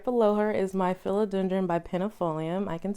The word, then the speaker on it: bipennifolium: And right below her is my philodendron benpinatum. I think I know how to say it finally, y'all. Benpinatum? No, bipennifolium. Wow, bipennifolium. Okay. So right below her is my philodendron bipennifolium.